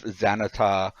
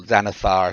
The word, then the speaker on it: Xanathar: there's been rumors about if xanata or xanathar i should say is a beholder or